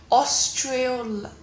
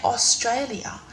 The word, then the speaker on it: Australia: a sexually transmitted infection oh I don't say like that I say Australia yeah I don't know what simpler way to put oh we don't say it like that it might sound like it to you but that's not how you pronounce Australia okay we are seven